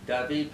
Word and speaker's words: David: It looks like David, but it's pronounced David.